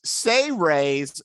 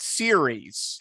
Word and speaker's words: Seres: in earth's affairs and this is say rays not series so it's spelled s-e-r-e-s but he pronounces it say rays say rage okay i